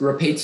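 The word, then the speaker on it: Rapateaceae: all the information yes rape tac is the only pronunciation it's from new latin it's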